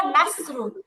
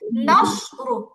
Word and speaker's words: نصر: থাকতো তাহলে উচ্চারণ হতো নাসরু। কি হতো আপু তখন? নাসরু। কেমন? নাসরু নাসরু যদি সিন থাকতো। আর এখন যেহেতু সদ আসছে তাহলে কি হবে? ঠোঁটটা হালকা গোল হয়ে যাবে, উচ্চারণটা মোটা হবে, নাসরু।